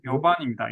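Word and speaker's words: 夜半: 요반입니다. 요반. 용반이 아니고 예, 연반이 아닙니다. 오. 요반다샤. 예. 4번 타자 요반입니다.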